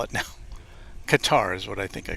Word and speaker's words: Qatar: was because there were so many variations on how to pronounce that name and I kind of settled it on Qatar but of course I've heard it guitar as well or gutter gutter may be phonetically correct I don't know but this doesn't sound